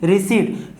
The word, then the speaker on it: receipt: सारे कन्फ्यूजन रहते हैं रिसिप्ट रिसिप्ट हम इसको रिसिप्ट पढ़ते हैं रिसिप्ट नहीं पढ़ते पीस साइलेंट होता है सबसे पहला तो